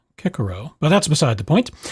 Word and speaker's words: Cicero: could criticize your pronunciation because of course in ancient latin all the seas were hard so it would be kekuro but that's beside the